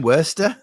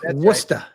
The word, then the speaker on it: Worcester: Wora. No, no, no. Peody or Peody? It's Peody and it's Worester. Wora Worester. I thought it was Warchester.